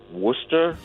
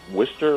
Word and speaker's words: Worcester: Scary that it's Worcester like wood, not Worcester like twister?